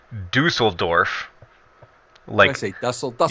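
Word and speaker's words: Düsseldorf: you ready it's pronounced Dusseldorf lengthy nestled up said dussel Dorf like it's like it's a duffel bag it's Dusseldorf okay I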